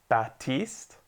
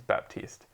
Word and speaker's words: Baptiste: Apparently the P is silent. Batiste? I guess so. Fuck off, it's Baptiste.